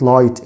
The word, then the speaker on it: light: وعكسها كلمة light الجي اتش برضه silent.